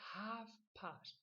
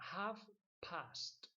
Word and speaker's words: half past: Se dice half past. No se pronuncia casi la L nada. Half past.